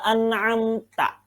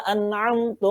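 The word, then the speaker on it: أنعمت: Contoh, suratal ladzina an'amta. Yang benar begitu. Jalan. Ya. Yakni jalannya orang-orang yang kau beri nikmat. Lalu ada orang bacanya begini, suratal ladzina an'amtu alaihim. Nah, an'amtu yang sebenarnya tak menjadi tu.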